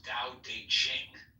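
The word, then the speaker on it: Tao Te Ching: book you're referring to Da Ching pronounced more or less da de Jing can be translated as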